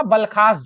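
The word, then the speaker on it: बालखश: यह जो है इंडस्ट्रियल, बलखास भी बोल रहे हैं, कोई समस्या नहीं, कहीं बलखास लिखा रहा है बालखस झील तो इसको दिक्कत नहीं है, वही प्रोनाउंसिएशन है।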